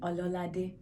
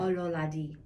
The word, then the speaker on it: Ololade: Ololade. Ololade. O- o- lo- lo- lade. Lade. Yeah. Ololade. A at the end. The E like de. Yeah, perfect. Yay! Pronunciation's important. Ololade.